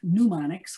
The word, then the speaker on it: mnemonics: This word is often mispronounced, by the way. It's not mnemonics, which means having to do with lungs, like pneumonia.